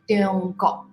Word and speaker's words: Tiongkok: So when we hear the pronunciation Tiongkok, it's very dialect. Okay, in the Chinese language dialect, especially Hokkien. You know, Hokkien, Teochew. In Mandarin, we say 中国.